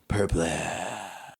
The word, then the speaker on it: Purple: We're in the Centalis star system, Sigma Quadrant, Sector 259, planet Purple. Which is spelled like the word purple.